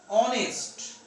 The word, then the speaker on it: honest: before a consonant letter, because here this consonant letter H is not pronounced. Here the pronunciation, the sound of this letter is silenced, muted. That means here H, ho sound, it is not pronounced. That's why the next vowel sound is coming, and that's why an is used here.